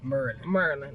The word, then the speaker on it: Maryland: And then you can tell the people that's from here, because we say Maryland, like M-U-R. We don't even put the D on it. Yeah. Maryland. It's like we say it like M-U-R-L-A-N. Instead of M-A-R-Y-L-A-N-D.